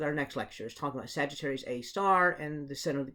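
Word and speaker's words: Sagittarius A*: with little Asterix there everybody pronounces that as Sagittarius a star and so that actually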